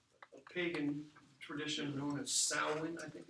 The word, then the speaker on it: Samhain: It's spelled Samhain, so Samhain. One word though. It's not a dude. Play it again, Samhain. Yeah, that's. And it's pronounced Samhain. Yeah.